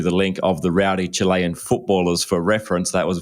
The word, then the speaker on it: Chile: for sending through the link of the Rowdy Chilean footballers for reference that was very helpful uh